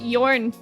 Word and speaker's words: Jorn: Jor Clooney pronounced Yorn.